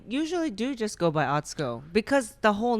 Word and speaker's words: Atsuko: I used to say Atsuko, and now I know it's Atsuko.